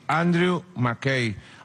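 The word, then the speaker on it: Andrew McCabe: la policía los eeuu andrew mackay se pronuncia así andrew mackay andrés maccabi este hombre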